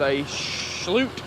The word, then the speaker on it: Schulte: it's a John Deere 66 15 tractor with aute that's how you say it it's a srw1